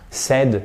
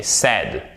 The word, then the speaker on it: said: C'est pas un « said », mais « said ».